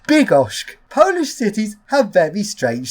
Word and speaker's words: Bydgoszcz: I saw the name, I thought it was pronounced Bydgoszcz. That's actually completely wrong, because it's actually pronounced Bydgoszcz.